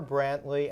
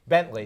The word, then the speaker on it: Bentley: Um, so both um, Jennifer Brantley and Tariq Lucas, am I pronouncing your names right? Okay, good. Bentley. Bentley. Sorry. Bentley. Like the car.